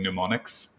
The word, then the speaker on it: mnemonic: So only boring astronomers find gratitude knowing mnemonics. I don't like that one because mnemonic starts with an M, but it's pronounced with an N.